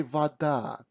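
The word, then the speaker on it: вода: russian um words so when o is not stressed we pronounce it almost always as a so we say vada but when we write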